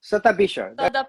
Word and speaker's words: Shatabhisha: How you pronounce it properly? no, Satabhisha or Shatabhisha? Satabisha.